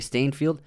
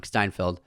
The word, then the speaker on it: Steinfeld: edge of 17 with hayley stainfield and i always say her name wrong steinfeld i think it's a